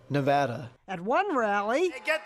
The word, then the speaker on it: Nevada: Nevada. Nobody says it the other way. It has to be Nevada. Actually, Donald, wrong. This is right. Nevada.